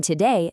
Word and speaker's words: today: In today, the heavy emphasis or stress lands on that second syllable, today. But in table, that heavy strike hits right at the front, ta-bull.